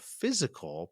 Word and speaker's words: FYZICAL: Well, you are the Director of Education for a franchise system called Physical, but that's spelled with an F, correct?